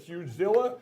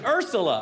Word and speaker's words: Ursula: This will put you out of business, Urzilla. It's Ursula. I finally figured out how you say it.